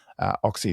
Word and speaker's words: Ochse: Oxy is spelled Ochse, Alicia.